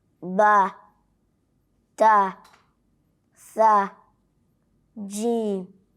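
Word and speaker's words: ث: And you try to slightly bring the tongue out in between the upper and lower incisors. And so with that, you will be able to pronounce tha in the best way.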